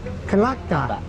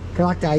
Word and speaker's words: Klathak: Klathak. Klathak, yes.